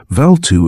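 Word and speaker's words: Bvalltu: old man for help valtu for such approximately was the Philosopher's name the LL being pronounced more or less as in Welsh valtu affected a cure by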